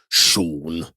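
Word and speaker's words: Sjón: uh voldemort johansson and co-written by him and shawn which is uh the name of an icelandic screenwriter and author it's spelled s-g-a-o-n but it's pronounced shawn okay so and it just feels a bit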